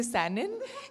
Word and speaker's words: Sanon: I'm telling them kti then I'm telling them snon then I tell them how you say Canon that's how you say sanon it's like a process